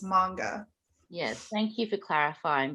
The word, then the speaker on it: manga: really long time, because I think in English, it sounds more natural to us to say manga, because it's like mango. So it's like, to us, we want to hit that A a little bit harder. Mm-hmm. But yeah, in Japanese, the A is a little bit softer, so it's manga.